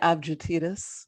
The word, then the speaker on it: Avgitidis: Avgitidis. I just told you the G's are soft. That was soft. I did it. That's not a soft G. That's a hard G.